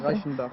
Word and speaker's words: Reichenbach: C'est comme ça que ça se Oui, prononce. Reichenbach.